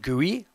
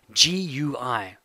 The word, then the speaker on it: GUI: have heard of GUI it's pronounced - GUI I'm not even kidding GUI and you're probably wondering